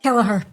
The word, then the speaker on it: Kelleher: Kelleher. Kelleher today. It's that Irish pronunciation, Yeah.